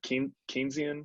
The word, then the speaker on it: Keynesian: And I guess I could see that as being like a potentiality for something like, is it Keynesian economics? Is that how you Yeah. pronounce it? Yep. Keynesian, yeah, Yep.